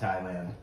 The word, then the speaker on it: Thailand: There's an H in it. There is an H in it. The H is silent. Thailand. Not like your thighs.